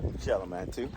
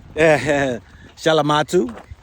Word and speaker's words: Shalamatu: Shalamatu. Shalamatu. Is that I say it right? You got it. Got it right.